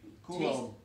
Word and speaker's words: Coulombe: We've Coulombe.